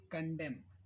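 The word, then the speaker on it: condemn: ओ एम पीठ मे कंडम कंडम कंडम इसमें and silent करने के लिए माफी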